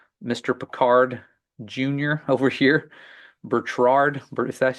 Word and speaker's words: Bertrand Piccard: to these people Mr peard Jr over here Berard is that how you say it or Bertrand Bertrand peard there it is so Bertrand peard if I